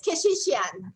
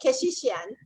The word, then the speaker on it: Keshishian: You can pronounce that, Kardashian. That's easy. Yeah, that's easy. It's it's Keshishian. Very similar, Keshishian.